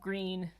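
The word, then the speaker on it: Gruene: Sandy says, it's pronounced like green. If you're just tuning in, I was saying earlier, we were talking about the town of Greene, but it's spelled like Grune. It's very confusing if you're not a native Texan.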